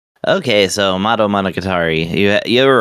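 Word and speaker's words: Madou Monogatari: Okay, so motto monocatari. You you were right. I mean that's pretty much uh the way it's pronounced.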